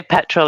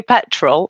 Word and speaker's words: petrol: depends if I'm trying if you say say petrol I'll say petrol and I'll pronounce the T because you've asked me but if I'm just being common as Muk I'll probably say pet rol got any petol in the car like that's like Canadians